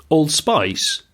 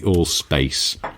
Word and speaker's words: Allspace: Allspice? Old Spice? I was going to say Allspice, and I thought, no, I'll say it properly, but then I stumbled between. It's called the Allspace.